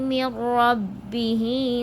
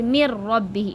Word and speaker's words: min rabbihi: Unzila ilayhi min rabbihi wal mu'minun. Okay, mir rabbihi, it's not min rabbi, mir rabbi. Mim connects with the ra, so mir rabbihi. Okay, the noon is silent.